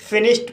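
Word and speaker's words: finished: फिनिश्ड फिनिश्ड word में एस एच का बाद इडी आया है और एस एच का उच्चारण श हुआ है। इसलिए डी का उच्चारण ट हुआ। इसलिए इसे फिनिश्ड पढ़ा जाता है।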